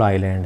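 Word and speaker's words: island: जो हैं दो स्मॉल आईलैंड है दो छोटे छोटे द्वीप हैं सब दक्षिण समझ लेंगे आईलैंड इसमें ऐड साइलेंट है मैं वन अब हम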